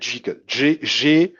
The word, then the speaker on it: JGGL: La prononciation n'est pas peut-être pour les francophones aussi simple, mais c'est Jiggle. JGGL.